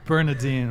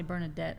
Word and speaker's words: Bernadine: People usually get it wrong and say Bernadette or something.